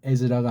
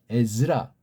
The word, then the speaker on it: 에즈라: 사람이 누군지 모르지만 일명 에즈라가 아닌가 그렇게지 말하자 에즈라고 발음해요. 에스라 에스라가 아니에요. 즈 즈 예 한글장애들이이 제국자